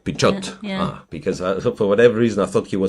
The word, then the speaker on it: Pichot: So then I have to pronounce the T. Pichot. Pichot.